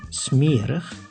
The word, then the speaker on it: smerig: In two specific situations, the I is pronounced as e, when the word has an unstressed ending on I plus G, like in smerig, which means dirty, and I plus S, like in notaris, which means notary.